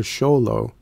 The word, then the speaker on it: Xolo: the word sholo sly is often shortened to sholo by non-mexicans and Mexicans alike for ease of pronunciation the word is from naat the language